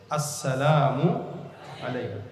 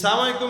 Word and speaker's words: আসসালামু আলাইকুম: এজন্য অহংকার মুক্ত যদি হতে চান সালাম দিবেন আগে কিন্তু কিভাবে আসসালামু আলাইকুম শুরুর হামজা আর শেষের মিম এই দুইটা উচ্চারণ ঠিকমত করে দিবেন আমাদের দেশে তো এখন